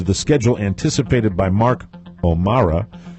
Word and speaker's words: O'Mara: schedule anticipated by Mark O'Mara. I always pronounce it that way. You would separate yourself from him. He doesn't put the E in there. Mark O'Mara, they say the presentation